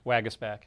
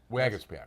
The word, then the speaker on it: Waguespack: Did I pronounce that right? Waguespack. Waguespack.